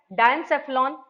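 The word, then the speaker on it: diencephalon: ठीक है, इसका प्रोनाउंसिएशन थोड़ा सा टफ है, डायनसेफ्लॉन।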